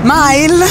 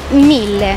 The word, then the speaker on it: Mille: E no, la pronuncia esatta è Mille. Mille, ragazzi, mi raccomando. Mille. Ok, come grazie mille.